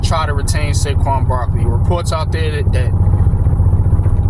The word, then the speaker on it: Saquon: Saquon Barkley.